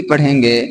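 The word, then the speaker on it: پِ: पे के नीचे ज़ेर की मात्रा है। अब इसे इसका उच्चारण पी के रूप में होगा।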